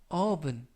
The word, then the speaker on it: oven: 이때 발음에 유의하실 것은 오븐이 아니라 oven, oven. 알파벳 O가 발음에 가깝습니다.